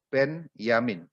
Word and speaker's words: Benyamin: Jadi motongnya di situ Benyamin Jadi bukan Benyamin kalau Benyamin itu berarti adalah yang dulu main film dan apa itu namanya pelawak itu Benyamin Tapi kalau ini maksudnya Ben Yamin Anda boleh membandingkan dengan